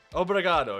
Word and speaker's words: obrigado: Obrigado. Is that how you say it? Obrigado, yeah, that's right.